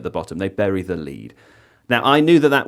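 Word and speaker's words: lede: people say bury the lead. You like I know that that that that is spelled L E D E.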